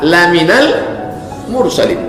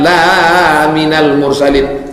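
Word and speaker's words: لمن المرسلين: Sesungguhnya engkau laminal mursalin lam itu kalau pendek artinya sungguh lemen al-mursalin sungguh engkau seorang rasul tapi kalau membacanya salah dibacanya panjang in naikkan laminal mursalin kau bukan seorang rasul untung sedang percaya cynosa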